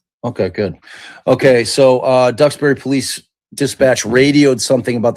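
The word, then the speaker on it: Duxbury: Uh, am I pronouncing Dubberry right? Is that right? Said ducks. Okay, good. Okay, so uh Ducksberry Police Dispatch radioed something about the home's basement before he heard the extremely loud screaming.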